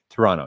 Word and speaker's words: Toronto: in Toronto I mean Toronto Toronto yes Toronto say it correctly here that's kind of sounds like in Utah we say the mountains you don't say the T it's not a mountain